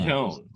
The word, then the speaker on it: Antone: Antone. No I. Oh, there you go. Antone Maxson. See, I knew I shouldn't have pronounced the name.